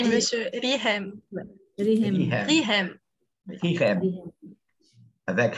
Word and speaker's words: Rihem: Comment on prononce? Oui, monsieur. Rihem.